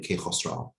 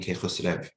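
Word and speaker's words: Kaykhusraw: bend to accommodate them, like that W sound at the end of his name, Kaykhosro. So it ended up being Kaykhosrev in Turkish.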